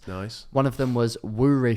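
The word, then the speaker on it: Woorey: One of them was Woory Fury, because it rhymes. Woory?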